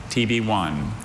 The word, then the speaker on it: tibione: TB1. This word literally sounds like the letter T, the letter B, and then the number 1, but it's not.